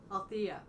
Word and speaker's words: Althea: Althea. Yeah. Pronounce the E correctly.